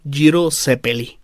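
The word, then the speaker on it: Gyro Zeppeli: Aunque el Sara Llamar jiro zeppeli Bueno estoy diciendo la pronunciación italiana a ver qué tal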